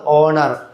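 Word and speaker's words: honour: അവർ, ഓണർ, honest, ഏർ എന്നാണ് വായിക്കുക കേട്ടോ. ആൻ ഏർ എന്നാണ്.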